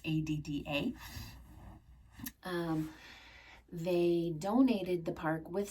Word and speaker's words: Ada: I'm not quite sure how to pronounce that. It's Adda.